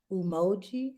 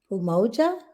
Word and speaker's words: Umoja: about four of them right we talked about Emoji umoja did I say it right yeah umoja we talked about not Koji chocolate self-determination first